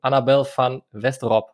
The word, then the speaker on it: Annabel van Westerop: to introduce to you annabelle fan westerop that's correct was it close enough that sounds pretty good absolutely thank you i